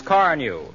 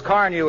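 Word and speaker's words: Carnu: your car looks like new when you use car new and here's an extra tip if you want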